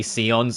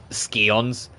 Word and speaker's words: Scions: I nearly said Scions. That's going to be a hard habit for me to break. I will do everything in my power to say it properly and say Scions and not Scions.